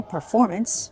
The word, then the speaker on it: performance: And the second one, I guess nothing so much, but the word performance might have been hard for some people to get the right stress on the second syllable, performance.